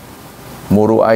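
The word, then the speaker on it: مروءة: Muruah ini suka diucapkan oleh orang marwah ya. Ahah. Ini akan me degrasikan degradasikan marwah DPR. Contohnya yang benar itu muruah bukan marwah.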